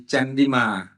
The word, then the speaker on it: Chandima: Chandramas, it becomes in Pali Chandima. That means the stress is on Chan. That's why after that syllable become E, become Chandima.